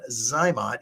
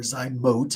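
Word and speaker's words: ZyMot: diminished ovarian Reserve well zot is a method or zote I think is technically the the correct pronunciation and they do have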